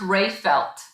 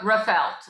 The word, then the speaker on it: Reifelt: reifelt than i thought it's actually pronounced ray felt don't ask rachel yeah i know that some people said rough out and i'm like no no no no we do the ray rey and my name is